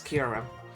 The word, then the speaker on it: Kyurem: For some reason, Kyurem is one of those Pokemon that I hear some mispronunciations of, because I hear, like, Kyurem, and I'm just like, no, it's not Kyurem, it's Kyurem.